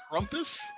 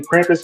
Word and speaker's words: Krampus: So call it Crumpus. Yeah, it's like K R A M. Oh yeah. K R A Krampus.